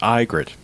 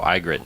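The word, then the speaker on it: Ygritte: okay is it pronounced egit in the in the television show I think so no it's pronounced igrit oh igrit okay she's Italian how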